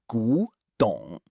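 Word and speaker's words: 古董: Our last word for this lesson is gǔdǒng, pronounced gǔdǒng.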